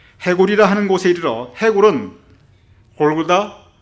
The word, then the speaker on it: 골고다: 해골이라 하는 곳에 이르러, 해골은 골고다, 갈보리 같은 말입니다. 골고다는 히브리어 발음이고 갈보리는 헬라어 발음입니다.